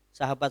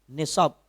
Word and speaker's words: nisab: nah dalam penghitungan zakat sahabat semuanya akan selalu ketemu dengan nih sob Hai Bacanya apa ini Hai nishob bukannya Sahab t-shirt Hai nisab Hai yang kedua haul